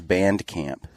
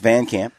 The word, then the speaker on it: VanCamp: And I am here with VanCamp, right? VanCamp? Yep, I was just taking a drink. At first I thought it was Band Camp. I get that a lot. But it's VanCamp.